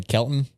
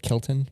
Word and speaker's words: Kilton: what do you say i say kelton instead of kilton dude i worked in